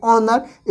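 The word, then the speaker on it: honour: ऑनर again यहां देखेंगे ऑनर owner में भी जो एच जो है यहां साइलेंट हो जा रहा है ये वर्ड तो शुरू हो रहा है एच लेटर से लेकिन यहां पे एच साइलेंट हो जा रहा है और साउंड यहां ओ की आ र है ऑनर इसलिए ये वोल साउंड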